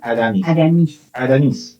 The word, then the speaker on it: Aramís: Aramis. Con el acento en Aramis.